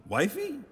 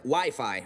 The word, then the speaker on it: Wi-Fi: blood-pressure machine kids love those things whoopee wifey well it's either wiffle ball or an arranged marriage game it's actually pronounced Wi-Fi Ralph yeah that's what I said and Wi-Fi